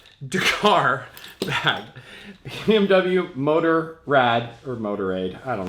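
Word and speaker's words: Motorrad: here is the BMW motor rad Dakar bag BMW motor Rad or motor Aid I don't know whatever it's spelled motor rad and well we're in America so that's how I pronounce it this is a tool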